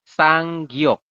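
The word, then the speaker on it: 쌍기역: ada dua seperti ini ini namanya adalah sanggok ini ada namanya nih sang Giok ini kalau anda bisa baca ini dibacanya sang ini Gi ini Yok benar enggak benar ya sanggyok sanggyok ini bunyinya adalah Kaka Artinya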